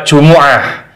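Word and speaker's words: جمعة: dapati hati-hati cara membacanya dalam lafadz jumu'ati huruf ainnya ini berharakat dhammah bukan sukun jadi bacanya bukan di sukun tapi mimnya harus di domah ini sebagian diantara kita ada kekeliruan karena Jumat itu adalah bahasa Indonesia bahasa Arabnya adalah Jumuah Sekali lagi mimnya bukan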